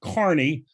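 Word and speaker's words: Kearny: kearney new jersey but they pronounce it carney on the other hand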